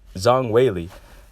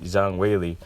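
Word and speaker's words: Zhang Weili: Zhang white Zhang Wei Lee that's how you pronounce it I think I want to make sure I got it right Zhang Wei Lee well anyways Wei Lee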